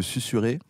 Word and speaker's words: susurrer: Mais du coup, je me suis dit, c'est marrant, ça doit être le seul mot où il y a un S entre 2 voyelles qui se prononce et pas Z.